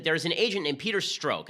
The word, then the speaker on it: Strzok: An actual bombshell drops, and that is that there's an agent named Peter Strzok. I think that's how it's pronounced. S-T-R-Z-O-K.